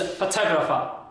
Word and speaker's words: photographer: salad so it is photographer photographer so the stress is on the first syllable here but and the second would the stress is on the second syllable so photographer photographer not photographer so this was the